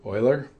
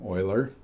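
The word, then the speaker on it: Euler: In the case of buckling, we have a formula which was developed by a German mathematician named Oiler. Eu ler is pronounced in German. Oiler and um his theory said that for this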